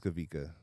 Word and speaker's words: Kawika: oh kavika yes sir I know it's kavika but I've always thought it was funny because there's a w in your name just like how it's spelled where I'm coming where I come from Hawaii how do you say